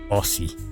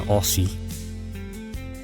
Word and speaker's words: Aussie: how it's pronounced well a lot of Americans will say aie that's not how you pronounce it so I'm here to to clear it up for you guys and uh teach how to pronounce it properly so you know when